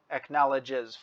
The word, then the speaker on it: acknowledges: singular is acknowledges now because it ends with a j sound when we put on the third person singular s it it adds another syllable so we are now at four syllables acknowledges four syllables the past simple is